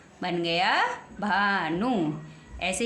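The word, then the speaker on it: Bhanu: आ जाता है तो बी एच का उच्चारण भय होता है आइए एग्जांपल देकर हम आपको स सिखाते हैं एग्जांपल नंबर वन है आपका बी एच ए एन यू बन गया भानु भानु बी के साथ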